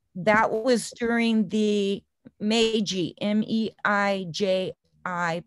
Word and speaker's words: Meiji: so it was 1889 that they and that was during the meiji m-e-i-j i pronounced meiji um restoration period where